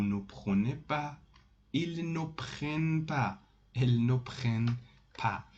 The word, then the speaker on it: prennent: Vous prenez, ils prennent, elles prennent. Pronounced it prennent.